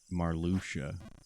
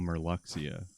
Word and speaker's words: Marluxia: of cards against uh marluxia who i would call merluxia because uh obviously he was a new character and there was no spoken dialogue so thanks uh other kingdom hearts games for telling me how to say their dumb names but yeah i didn't